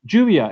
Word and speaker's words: lluvia: lluvia, por ejemplo, lluvia. Juvia, exactly. So that's the double L. But of course, that's also just for Argentina and Uruguay.